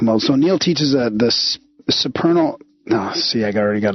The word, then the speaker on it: supernal: So Neil teaches the supernal. No, see, I already got it. Now I can't. How do you pronounce that, Neil?